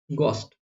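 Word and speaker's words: ghost: शुरू हो रहा है जी एच से वहां पर एच साइलेंट होता है जैसे घोस्ट घोस्ट बोलते हैं कई लोग य घोस्ट बोलते है कई लोग गलत है ये क्या होता है घोस्ट होता है गोस्ट ओके गस्ट जैसे आप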